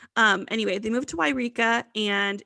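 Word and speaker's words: Yreka: they should move to wairika california to be closer to her mother's family so why did you say eureka really weird no it's why rika it's why i was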